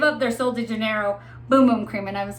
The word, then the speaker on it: Bum Bum: It is pronounced Boom Boom. I called it Bum Bum, but it's Boom Boom.